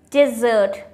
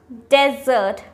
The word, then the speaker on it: dessert: Dessert. Dessert. Not desert.